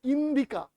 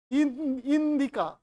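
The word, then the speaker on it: Indika: থেকে ইন্ডিয়া এটা ইংরেজি উচ্চারণে ইন্ডিয়া মেগাস্থিনিস লিখছেন ইন্ডিকা একচুয়ালি উচ্চারণটা হচ্ছে ইন্ডিকা ইন্ডিকা ঠিক আছে ইন্ডিকা বানানটা কিন্তু বের্ভাগ জায়গায় ভুল লেখা আই এন ডি আই সি এ না কে এ ইন্ডিকা বানানটা কিন্তু actually I এন ডি আই কে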